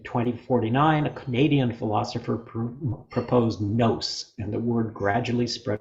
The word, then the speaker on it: nous: In 2049, a Canadian philosopher proposed nous, and the word gradually spread across the planet. Pronounced with a long O as in ghost, it sounded right in every language.